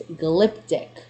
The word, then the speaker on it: glyptic: What does the word glyptic, and I believe it's glyptic, what does this mean? Glyptic. Ah! Finally, I pronounced the word correctly on the first try.